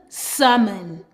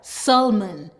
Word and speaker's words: salmon: S-a-mon, salmon. Or with some accent, they actually pronounce the L, salmon.